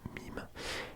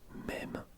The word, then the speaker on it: mème: Le terme est une francisation de l'anglais internet mime. Il se prononce mème, non mime et en français. Attends, non ok, mème en français et mime en anglais.